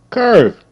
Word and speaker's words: curve: Curve. C. Curve. Curve. Curve. C. E is silent.